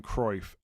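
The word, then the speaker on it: Cruyff: I think the most famous misprononunciation of a name is Johan Cro. It is O W as in cow, not oi as in boy.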